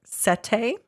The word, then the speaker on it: setae: They're things called like setae. I don't know if that is how you say that. It's SETAE. I'm pretty sure.